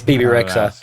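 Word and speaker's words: Bebe Rexha: I don't know how to pronounce the name either, Jag. BB Rexa. Yeah, it's BB Rexa.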